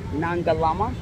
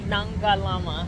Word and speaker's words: Nangalama: I'm here with one of the 60-plus Black women expats, Nangalama. Hi. Did I say it right that time, didn't I? Nangalama. I said it right.